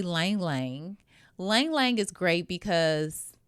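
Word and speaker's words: ylang-ylang: I would say Lang Lang Lang Lang is great because when I say Lang Lang it spelled with a Y if you look it up y l a n g but Lang Lang is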